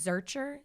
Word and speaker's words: Zercher: say your last name my last name is searcher zer CH ER okay wait so are you